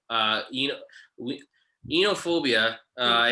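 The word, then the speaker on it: oenophobia: of wine it was b uh you know inophobia uh it's oh you're not supposed to pronounce the oh it's o-e-n-o-phobia so it's inophobia that's how you say it yeah um myself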